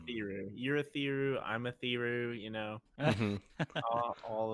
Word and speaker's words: Urithiru: If I remember correct, it's Urithiru. Urithiru is how they say it. Urithiru. I'm a Thiru. Mm-hmm. All of them. Yep. I had Yurethiru, but I'm guessing there's